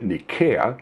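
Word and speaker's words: Nicaea: born in a town called NAA we we pronounce it NAA the Greeks pronounced it Nika comes from the Greek word for victory or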